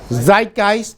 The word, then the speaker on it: Zeitgeist: How do you pronounce the word, John? Zeitgeist? Zeitgeist.